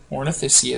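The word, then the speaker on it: Ornithischia: Ornoysia is how you say that.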